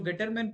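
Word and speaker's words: Gattermann: वो टॉपिक है आपका गेटरमैन coach reaction. Okay, not गटरमैन coach reaction. बहुत से लोगों का जो प्रोनाउंसिएशन होता है वो गटरमैन होता है, एक्चुअली गटर नहीं है, गेटरमैन कोच रिएक्शन है।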